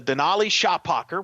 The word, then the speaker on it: Denali Shapaker: No, the freshman combos, Denali Shapaker, which is, by the way, how you pronounce it. I've talked to her parents.